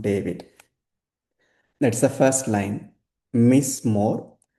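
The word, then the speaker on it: מִזְמוֹר: So here me it's very clear but under z we have shiva but that shva is silent because the vowel point that precedes shiva is short. So whenever the vowel point precedes the shua shua becomes silent then we have mo then re. So miss more then here shiva is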